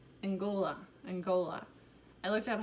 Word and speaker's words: Angola: the italian we have african so congo and angolia angola angola i looked up how to pronounce these i try not to push for